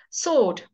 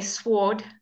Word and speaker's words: sword: think of an example sword sword we don't say sward people don't know what